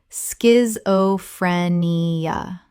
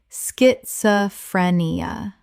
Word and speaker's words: schizophrenia: Schizophrenia. Correct pronunciation. Schizophrenia. The SCH makes a sk sound. 5 syllables.